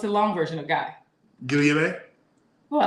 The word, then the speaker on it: Guillaume: Guillaume. Oh, I like that. Do it again. Guillaume. Guillaume. If you pronounce the L's, I love it.